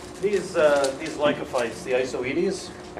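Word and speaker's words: Isoetes: these Lanka fights the I so Edie's most of the professional fern biologists pronounced at ISO edie's some call it I Saudis you're fine with either these hi Saudis or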